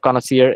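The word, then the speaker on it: connoisseur: এটা উচ্চারণটা একটু দেখে নিয়েন, এটা কাইন্ড অফ কনাসিয়ার এই টাইপের উচ্চারণ।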